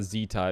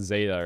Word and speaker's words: zeta: just sounds the best zeta it's not zita it's zeta right i feel like